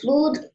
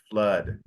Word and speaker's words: flood: English how does this explain how the fluid called cover mountains very good now remember one